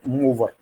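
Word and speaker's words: movere: Word, जिसके मानी है, जिसको प्रोनाउंस करते हैं मूवर, मूवर, which means मूव।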